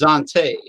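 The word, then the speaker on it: Xanté: n t e with an apostrophe or z i guess is pronounced dante yeah what's the uh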